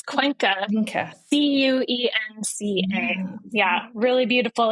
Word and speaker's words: Cuenca: mentioned, which I don't think I can even pronounce, actually, the one you said in the Andes. Where is that again? It's Cuenca.